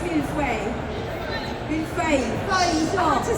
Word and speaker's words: mille-feuille: it's mille-feuille.